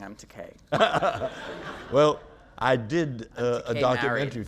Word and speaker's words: Takei: But then I thought, well, my name is pronounced Takei, although it frequently gets mispronounced. Takei rhymes with gay.